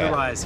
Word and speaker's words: Wilderwise: So stay tuned for a full-on video that I'm going to do with Wilderwise. Is that how you say it? Okay. Wilderwise.